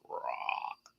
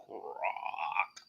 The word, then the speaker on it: grok: It's pronounced grok. Yeah, you have to say grok as if you were a frog with a sore throat. It's like grok.